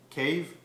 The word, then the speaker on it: cave: batman but a cav it's like it's spelled the same but you know you just don't have to say it like an english but in french cow